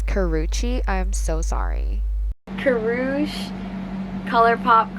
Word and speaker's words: Karrueche: Okay, so I googled how to actually pronounce her name and it's Karrueche.